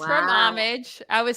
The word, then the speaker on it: Homage: It's Homage, but it's spelled Homage.